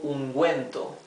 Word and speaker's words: ungüento: Same for ungüento. Ungüento means ointment. Ungüento, as you can see, we are pronouncing clearly the letter U because it has the two points, the diéresis.